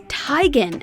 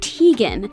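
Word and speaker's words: Teigen: moniker her name is originally to be pronounced as tygan as in bowtie and not tegan but she's gotten so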